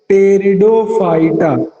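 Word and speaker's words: Pteridophyta: टेरिडो, टेरिडो की spelling start होती है पी से, टेरिडोफाइटा।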